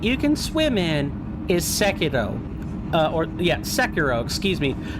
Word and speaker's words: Sekiro: The only game in FromSoft's arsenal that you can swim in is Sekiro. Sekiro, excuse me. Let me get the more American pronunciation here. Sekiro.